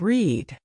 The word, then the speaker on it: read: The spelling stays exactly the same in the past, but the pronunciation changes. Today you say, I read a book, sounding like read.